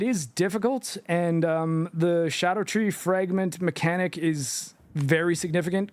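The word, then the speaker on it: Scadutree: Shadow tree or look like Shadow tree it's scatter tree but apparently it's pronounced Shadow tree don't know if that's a George thing or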